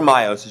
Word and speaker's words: meiosis: What exactly is meiosis, or meiosis? You can pronounce it either way, okay?